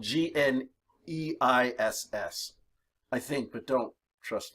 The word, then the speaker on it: gneiss: nice rock did you okay but it's spelled GN e is s I think but don't trust my spelling please okay but this is nice nice used to be granite gneiss is a metamorphic